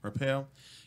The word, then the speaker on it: Arpaio: So anyways, former Sheriff Joe Arpaio, how do you pronounce it? Payo. Arpaio, convicted of criminal contempt.